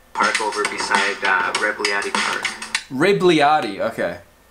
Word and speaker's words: Rebagliati: already saved our replica Wrigley Artie okay rib rib Lyari okay so the G is silent Ripley Rd got his own pop